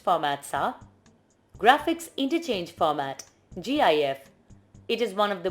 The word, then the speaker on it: GIF: GIF is pronounced as GIF. However, it is also acceptable to be pronounced as GIF, Joint Photographic Experts Group.